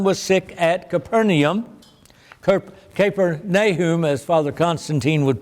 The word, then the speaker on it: Capernaum: nobleman whose son was sick at Capernaum Kirk caper nay whom as father Constantine would pronounce it when he heard that Jesus had